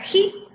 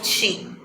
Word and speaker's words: chi: Esta la podemos dibujar como una X curveadita, como les aparece ahí, y su pronunciación en la fonética más cercana para nuestro lenguaje sería Ji o Chi, ¿ok?